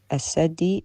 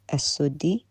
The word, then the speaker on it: السدي: السدي is not as-saddi, it's as-suddi, which tells me the ignorance here, because if you knew...